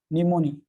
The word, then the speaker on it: pneumoniae: निमोनी, याद रखो, Streptococcus निमोनी। यार P silent, P silent, Streptococcus निमोनी, याद रखो, ये आगे चल के सिलेबस में।